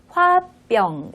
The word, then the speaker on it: 화병: 홧병 에 권리다 그렇습니다 화와 병의 학사 오기 때문에 뒤에 병이 된 소리가 납니다 그래서 화 합병 이렇게 발음을 하시면 되겠습니다 그러면 한번 더 화